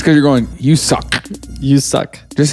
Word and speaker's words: Woo-suk: You suck is how you pronounce it. You suck. Yeah, it's WOOSUK. Okay. But I'm like 99% sure it's not Woo. It's you.